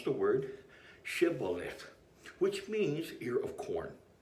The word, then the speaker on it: shibboleth: friend or Foe and the ability to correctly pronounce the word shibboleth which means here of corn is now the